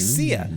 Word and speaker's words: Sia: It was like she's like Sia. She's like the Sia of neighbors, is what she is. Do you know who Sia is?